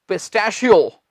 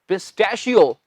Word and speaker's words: pistachio: पिस्ते की इंग्लिश क्या होती है, वो होती है पिस्टैशियो। ओ डरना नहीं, बड़ा आसान सा शब्द है, पिस्टैशियो। लिखती है स्पेलिंग, PISTACHIO, ये है पिस्टैशियो, एक पिस्ता।